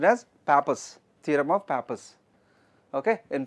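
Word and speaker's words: Pappus: theorem theorem of papers don't call it don't pronounce it as papus okay it is supposed to be Pro pronounced as Papas theorem of pap okay in fact it is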